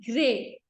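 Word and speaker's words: Gruyères: and chocolate factories at now the spellings are g r u y e r e s but it is known as gray gray what is it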